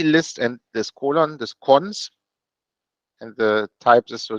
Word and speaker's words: cons: is written like this this colon in this case is often pronounced cons so for some historical